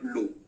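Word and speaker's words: Lowe: and second is Norman Low. Norman Low, L-O-W-E, ऐसा spelling है, ई वहां से गायब मत कर देना, तो गिरे हुए हो जाएंगे।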